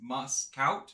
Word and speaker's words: Muscat: the morning we got all over the globe muscati hookah is in uh I'm pronouncing it wrong how do you pronounce it it's Muscat Muscat now we're going to introduce our third